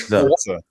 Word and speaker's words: Forza: I don't get where that T comes in. That's what I'm saying. There's no T. They tweeted out that they put a little phonetic pronunciation on how to say it, and it says Forza.